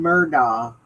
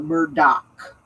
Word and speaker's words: Murdaugh: And then they were very very much pronouncing either the G or the Murdoch, calling him Alec Murdoch or Alec Murdog. They didn't want to say Murdo.